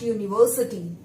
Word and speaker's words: university: Next, my brother has got admission in dash university. Remember children, though this word university is beginning with vowel letter U, but it is sounding like consonant Y.